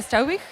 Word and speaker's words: Struiwigh: And next to me is our guest, Nadia Struiwigh. Did I pronounce right? It's fine. Struiwigh, yeah.